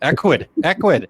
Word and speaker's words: Ecwid: Well, it actually, if I just said it phonetically, it would actually be right. Ecwid.